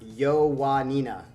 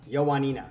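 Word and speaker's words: Ioannina: night it's pronounced oh he says loaning is pronounced yo nina yo nina oh it's got a w sound this is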